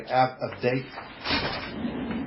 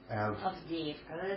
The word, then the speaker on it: Avdiivka: Avdate. Pronounce it. Avdiivka.